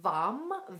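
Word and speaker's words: Vam: it sits in the heart and the seed syllable is vom V a.m.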